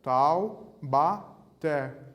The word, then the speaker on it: Taubaté: Taubaté, a última sílaba tônica, até. Última sílaba tônica também, oxítona.